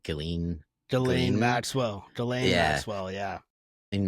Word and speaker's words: Ghislaine: Uh, yeah, it's he was also had his girlfriend or whatever, hate her name, I can never say it right, Ghislaine.